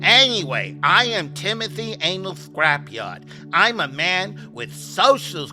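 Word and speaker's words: Ynal Scrapyard: It's spelled Y-N-A-L Scrapyard, but when you pronounce it, it sounds like Anal Scrapyard.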